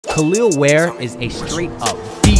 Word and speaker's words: Kel'el Ware: feel stupid though because for a while I was pronouncing it Kell L I told you to subscribe can't be the only it look exactly like that but anyways it's khil wear and he's coming in